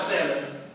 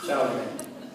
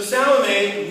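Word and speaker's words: Salome: entirely up to you not salmon salame so salame not to be confused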